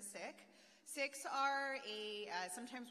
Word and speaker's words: Sikh: you'll hear the word seek it's with a short eye so we pronounce it sick six are a uh